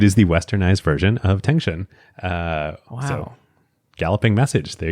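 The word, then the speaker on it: 腾讯: So they start the company, they need to choose a name, and they come up with Tengshun, I believe is how it's pronounced, Tengshun, which literally in Chinese means galloping message.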